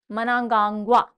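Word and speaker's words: Mnangagwa: Emerson मनांगाग्वा, मनांगाग्वा, pronunciation थोड़ा सा different है, मनांगाग्वा, एमरसन मनांगाग्वा। देखो इमर्स हो रही है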